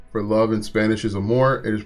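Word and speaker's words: amor: homework the word for love in Spanish is a more it is pronounced like a more up the Fantastic work learning a new language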